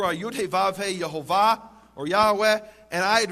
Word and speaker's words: Yehovah: In fact, it says there in the Hebrew, Yud He Vav He, which I pronounce as Yehovah, others pronounce as Yahweh or Yahweh, and I won't go now into the reasons for those differences.